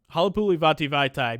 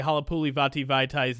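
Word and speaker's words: Halapoulivaati Vaitai: my name bracket posts, you can say Halapuli Vati Vaitai's name to the song Play That Funky Music White Boy, and it works perfectly.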